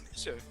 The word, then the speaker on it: Nisha: That card's pronounced Nisha, by the way. Yeah. It is. Just saying. Yeah. Is it though? Is it? It is. Is it though? It is. It's pronounced Nisha.